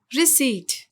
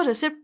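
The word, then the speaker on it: receipt: रसीद की इंग्लिश होती है रिसीट। इस वर्ड में पी साइलेंट होता है, जबकि बहुत से लोग इसको गलत प्रोनाउंस करते हैं और इसको रिसिप्ट पढ़ते हैं, जो कि गलत है। तो सही वर्ड है रिसीट।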